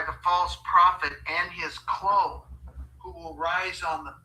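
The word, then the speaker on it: klon: The Greeks used it and uh it's was spelled K L O N but it was pronounced clone uh basically for grafting plants to create new species.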